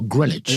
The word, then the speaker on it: Greenwich: In 1968, United Artists released the album Ellie Greenwich composes, produces, and sings. I'm not sure it's whether it's Ellie Greenwitch or Greenwich. I I've already heard it pronounced Greenwich.